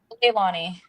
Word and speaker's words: Leilana: How do you pronounce the first name? Leilani.